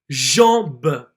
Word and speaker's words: jambe: So here you will see that the E is almost silent and that only the letter before the E will be pronounced. For example, jambe, jambe.